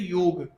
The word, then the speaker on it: योग: उसका right pronunciation है वाई ओ जी की तरह योग ग पूरा योग और योग इसमें थोड़ा सा फर्क आ जाता है।